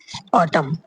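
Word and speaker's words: autumn: तो इसी इसी प्रकार पर कहा जैसे एम ऑटम ऑटम यहां पे सिर्फ ऑटम पढ़ा गया है। जबकि एन भी आया है लास्ट में।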